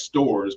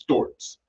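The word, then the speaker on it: Storz: Uh, we pronounce it in the US stores, but I understand in Germany it's pronounced STORS, S T O R Z.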